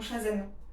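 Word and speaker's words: chasen: J'ai détruit mon Shazen. C'est comme ça que ça se prononce, mon foie matcha.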